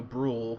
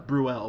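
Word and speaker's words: Brühl: uh what's his name Daniel Brule whose place at uh bruel pardon me I think is how you say it who plays Tony so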